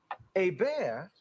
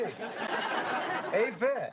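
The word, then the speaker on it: Hebert: The quarterback for the Atlanta Falcons is Bobby A. Bear. Noah. which I find fascinating. You know, it's Herbert. H E R B E R T. A bear. H E B E R T. A bear.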